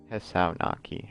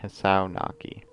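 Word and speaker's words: Hisao Nakai: This is how you pronounce this guy's name. Hisao Naki. Hisao Naki. Hisao Naki.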